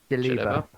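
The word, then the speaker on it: djellaba: Um he wears a white uh dialaba. Am I pronouncing that right? Jaliba. Jelly. Jelly. Like jelly baby.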